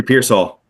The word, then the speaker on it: Pearsall: Ricky Pearsall.